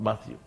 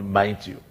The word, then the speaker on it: Matthew: mine to you not matthew you could see then in class and because we were friendly okay he could hear people who could not pronounce mathieu properly call me mind you oh so and then